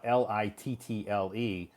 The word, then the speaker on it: little: pronounce the word uh l i t TL E A lot of times when we speak it very quickly we say little so it sounds like l i d d l e little y you're right